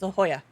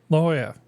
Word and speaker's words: La Jolla: Yeah, it's La Jolla. La Jolla. La Jolla. Like San Jose. It has a J in it. They don't actually say the letter J.